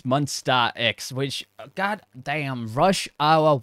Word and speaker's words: Monsta X: damn that was uh monster x with or my i say monster as they get pronouncing it probably wrong it's monstar x which god damn rush